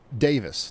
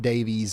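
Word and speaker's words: Daviess: Uh it's Davis, not Davies or nothing like that.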